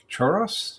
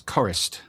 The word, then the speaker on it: Chorost: And then uh Mike Chorost, is that how you pronounce his name? Uh no, it's Chorost. Mike Chorost.